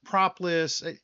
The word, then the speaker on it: propolis: And my goodness, I kept pronouncing it incorrectly the whole time. Propolis.